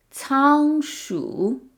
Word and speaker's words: 仓: 仓鼠. So remember, the letter C in Chinese is never pronounced like K. It's pronounced like ts.